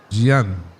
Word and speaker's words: Jean: St. Jean, how we pronounce it as John, comes into the attack. Gian.